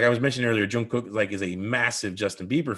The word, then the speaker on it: Jungkook: saying it wrong because they don't pronounce the K as K, it's G, so it's Jungkook, it's Jungkook, like I but the way they do it doesn't sound like the way I'm doing it, but that's how you pronounce the K and the G have the same sound.